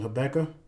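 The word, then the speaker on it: Habakkuk: so let's go touch apakah 219 some people pronounce it her Becca says whoa yeah 219 it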